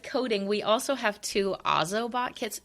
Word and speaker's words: Ozobot: Uh, but going along with coding, we also have two Ozobot kits. It's pronounced Ozobot. I always say it wrong.